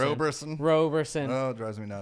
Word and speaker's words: Roberson: No, like he doesn't get the respect that he deserves as far as people get his name wrong. Anthony Robertson. Roberson.